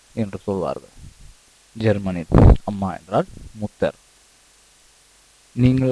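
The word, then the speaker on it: Mutter: அதனால் முதல் வார்த்தையாக அம்மா என்ற வார்த்தையை நாம் படிப்போம் மூத்தார் என்று சொல்வார்கள் ஜெர்மனின் அம்மா என்றால் முத்தர் நீங்கள் உச்சரிப்பை மிகவும் உன்னிப்பாக கவனித்தாலும் சரி கவனிக்கவில்லை என்றாலும் சரி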